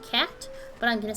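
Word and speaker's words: Cait: as a kate or apparently it's actually just pronounced cat but i'm gonna say kate because it sounds cuter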